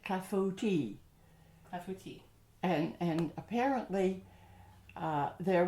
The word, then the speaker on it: clafoutis: fascinating things besides um and the pronunciation oh you can say it any way you like but yeah it's usually like kafuti and and apparently uh